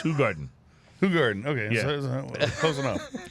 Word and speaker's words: Hoegaarden: Yeah, the common incorrect pronunciation is Hoegaarden. Yeah, So right. you've been pronouncing it Hoegaarden. wrong. You've been pronouncing it Hoegaarden. Yeah. But it's Hoegaarden.